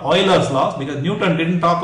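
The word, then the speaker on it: Euler: is pretty strong but I've been told the way to pronounce it is Oiler U and he was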